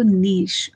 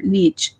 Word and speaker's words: niche: oftentimes I'm told, oh my God, that's so niche or niche, depending on what your way of pronouncing the word is.